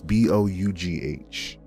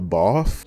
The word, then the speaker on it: bough: I think I'm pronouncing that right. It's Bough. Is that boff? Buff? It's bow, right? Spelled like dough.